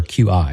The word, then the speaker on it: Qi: Now, what Mike was talking about, so Qi or QI as it's spelled, and we pronounce it Qi, is had some evolution over the years.